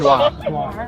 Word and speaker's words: noir: Can you pronounce the R? It's like a cologne. Is it noir? It's noir. Noir.